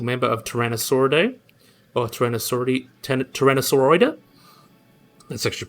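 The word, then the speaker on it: Tyrannosauroidea: a very basal member of tyrannosauridae or tyrannosaurus tyrannosauroida that's actually pronounced that's the proper one so would have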